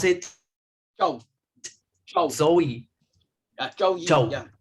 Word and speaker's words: Zhou Yi: también se lo conoce como, how do you pronounce it? Zhou. Zhou. Zhou Yi. Chow. Yeah. Zhou Yi.